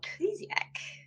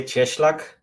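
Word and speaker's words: Cieślak: uh we have philip carter and um kleziak kleezek how do i say your last name i mispronounced that it's yeah it's actually cheschlach no one will be able to do that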